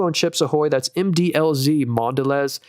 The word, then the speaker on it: Mondelez: I didn't believe it because McDonald's has a long partnership with Mondelez. Actually, that's such a cool company. The people who own Chips Ahoy, that's MDLZ, Mondelez or Mondelez, I think is how it's pronounced.